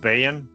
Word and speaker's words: Baen: But in 1987, uh I call it Bane Books. I've heard it pronounced Bayon, but Bane Books put out Cthulhu mythos and Kindered Horrors.